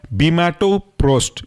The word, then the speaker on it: Bimatoprost: Spelling ऐसी होगी ट्रावो TRAVO, प्रोस्ट PROST। आखिरी एग्जाम्पल है आपका बीमाटोप्रोस्ट।